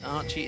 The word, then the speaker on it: Archie: You can see that Archie, it is pronounced Archie, by the way, ladies and gentlemen. I'm aware there is another Archie in Team Fire at the moment, I believe it is, but they are both pronounced the same.